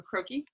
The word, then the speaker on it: croquis: How do you say croquis? Yeah. Croquis. Yeah. Croquis. Croquis is okay. So croquis is figure template. It comes from French word.